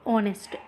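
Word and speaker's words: honest: दोस्तों ओवर पढ़ते हैं तो यहां पे एच साइलेंट है अब देखिए क्या है अ हनेस्टर को नेस्ट बोलेंगे लेकिन नेस्ट गलत हो जाएगा यहां पे यहां पे क्या है एच साइलेंट है दोस्तों एच क्या है साइलेंट है तो यहां क्या हो जाएगा ऑनेस्ट इन ऑनेस्ट अब यहां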